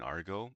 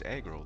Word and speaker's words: aggro: By the way, in my video yesterday, I was pronouncing that really wrong. I was saying Argo. I honestly thought it was Argo this entire time, you know, but meanwhile, it was aggro this entire time.